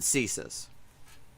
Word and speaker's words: CSIS: Canada's version of the CIA, but except they pronounce it CSIS.